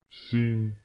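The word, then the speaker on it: 杏: Четвертый тон. Звук падает вниз. Абрикос. Син. Син.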